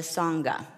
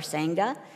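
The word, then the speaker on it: Sangha: take refuge in the SAA that is the community it has been pronounced SA or SAA and both are correct the S is the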